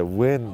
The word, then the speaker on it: Nguyen: Yeah, Win. That name is like, how could you beat Win? Spelled like that, right?